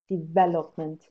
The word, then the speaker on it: development: that bachelor for development the stress is on me development and uh in a